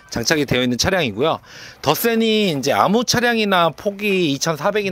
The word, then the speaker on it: 더쎈: 더 센 신형 어 더센 비전 차량입니다 뭐 덱센이라고 읽으시는 분들도는데 더센 비전이라고 생각하시면 돼요네이 차량은 23년 등록에 zf